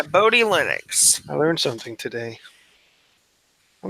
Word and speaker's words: Bodhi Linux: is on the list ah bori bori zat host pronounced ya Bodhi Linux I learned something today